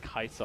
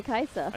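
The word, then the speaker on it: Kai'Sa: The worst was Kaisa on release. Kaisa on release? Oh. On release, I used to say her name completely wrong. How did you say Kaisa? I said a Kaisa, I think it was Kaisai.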